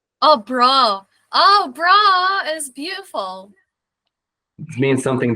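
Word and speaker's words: braw: Bra. Can you spell that? B-R-A-W. Oh, bra. Oh, bra is beautiful.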